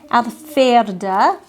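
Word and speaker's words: Alverde: It is Alverda, and you would say in German, you pronounce the V's with an F, Alverda.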